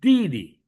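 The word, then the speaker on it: 弟弟: Pag younger brother is Didi. Diba? Didi. D, fourth tone. D. And then yung second D is neutralized. So Didi.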